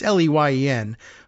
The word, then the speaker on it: Leyen: guess at the pronunciation, unless she has the extra syllable in there, Leyen. It's Leyen, von der Leyen.